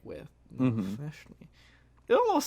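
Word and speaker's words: Nalfeshnee: So this week on Mystery Monster Madness, the monster I've got for you is called the Nalfeshni. Say that again? Nalfeshni. Now, can you spell that?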